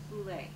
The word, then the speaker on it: Bulette: send for Julia Boule and I pronounce it Boule even the most of Virginia City says louette is because of this